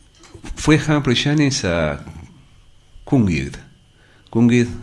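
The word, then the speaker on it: Cwmgiedd: Cungid es muy difícil pronunciar en galés, ¿no? Sería algo así como Cungid, que habría que decir.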